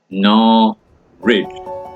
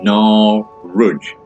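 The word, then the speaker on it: Norwich: sh stair shun and norid is pronounced narid or Nar rudge so therefore getting it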